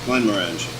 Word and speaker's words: Glenmorangie: And next week, what is the proper pronunciation of that? Glenmorangie. Glenmorangie. So next week we're gonna be sampling Glenmorangie, and see you next week.